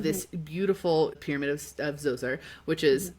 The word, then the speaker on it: Djoser: which is it's spelled d j o s e r by the way, in case you're wondering to look it up. It's not with a z, but it's pronounced Djoser.